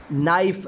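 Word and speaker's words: knife: Please give me this नाइफ, यहाँ पे मैंने के को जो है ना वो साइलेंट कर दिया, एन के साथ मैंने लफ्ज़ को शुरू किया।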